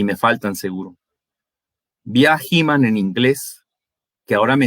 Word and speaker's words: He-Man: Vi a He-Man en inglés, que ahora me entero a mis 46 años que en el centro del país es He-Man, con acento en la A.